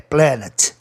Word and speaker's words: planet: Quando o A não pode ser pronunciado EI, principalmente devido à terminação ET no fim, né? Faz com que o A vá para o sistema geral, que é entre A e E, planet.